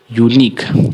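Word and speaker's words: unique: और का हो जाता है तो समझिए क्या होता है इसका उच्चारण, यूनिक।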